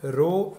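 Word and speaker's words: rho: Okay, ये पी नहीं है अभी, इट्स रो, ऐसे इसको लिखते हैं, it's pronounce as रो, आर एच ओ, रो।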